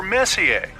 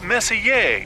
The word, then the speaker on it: Messier: Well, young lady, the M stands for Messier, pronounced Messier, not messier, as in is your room messier than mine?